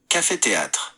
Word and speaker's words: Café Théâtre: The outfit is held under the Café Theatre. Hey Siri, how do you say Café Theatre in French? In French, Café Theatre is Café Théâtre.